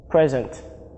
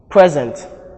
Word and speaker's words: present: Examples are contest, present, mandate, and record. Their verb form carries their stress on the second syllable, and note that the diacritic marks are indicated here to show us where the stress falls.